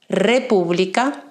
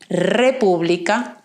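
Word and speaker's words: república: just practice this sound we will find it when we have the letter ere by itself at the beginning of a word for example republica dominicana it has a strong sound right republica dominican it will have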